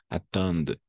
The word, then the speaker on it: attendent: Attendent. ENT à la fin, on ne le prononce jamais.